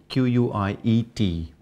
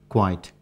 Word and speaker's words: quiet: one word here quiet q-u-i-e-t should not be pronounced quite quiet because quiet is something else for example it's quite